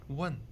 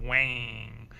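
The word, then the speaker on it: 问: So just gently one. Look at the shape of my mouth. One, not wang. That's English.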